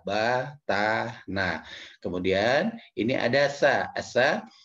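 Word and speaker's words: ث: Asa itu cara pengucapannya ini agak sedikit berbeda dengan huruf Latin. Asa, ujung lidah menempel pada gigi seri depan yang atas.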